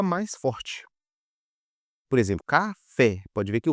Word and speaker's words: café: Por exemplo, café. Pode ver que a sílaba fé é mais forte.